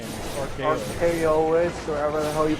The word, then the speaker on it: Archaoi: It's supposed to be pronounced Archaeos. Archaeois? Yeah, I alright. used a corruption of story art. Oh like- no. Oh no. Oh no. Yeah, I used a corruption of arc with chaos.